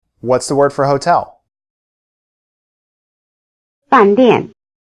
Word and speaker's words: 饭店: Notice that both syllables have the falling tone.